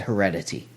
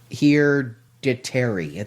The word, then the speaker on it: Hereditary: I said heredity. It is heredity. Hereditary. There's an R in it.